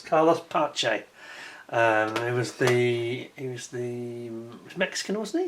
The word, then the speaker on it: Pace: For the Brits, it looks like Carlos Pace, the way the British pronunciation, but it's Pache.